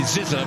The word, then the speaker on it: Zizza: Guy Ziza is not, it's Guy Zizza, because Marcus said he told me himself, and from the horse's mouth we will take it.